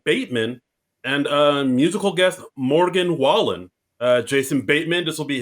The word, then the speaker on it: Wallen: I thought it was Whalen. According to his Twitter account, it's pronounced Wallen.